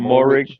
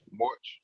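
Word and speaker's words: Moehrig: Trayvon Morig. Morich. Yeah, Morig.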